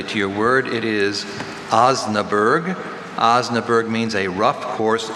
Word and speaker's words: Osnaburg: with covers made of Osnaburg. Are there any alternate pronunciations? Just Osnaburg. Osnaburg. Osnaburg. No. Osnaburg. Osnaburg. It's not a hard vowel sound in the middle of this word.